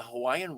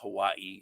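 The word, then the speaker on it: Hawaiʻi: hawaiian words it's not hawaii it's hawaii um that in in certain cases where there's the w a i that is pronounced with the with the v sound for the w so it's hawaii is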